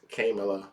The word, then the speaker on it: Kamala: Remember, it's Kamala, not Kamala. If her nieces Kamala can say her name, you can do it too. Kamala.